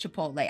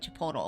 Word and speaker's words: Chipotle: I know it's pronounced Chipotle. I like to be silly and call it Chipotle.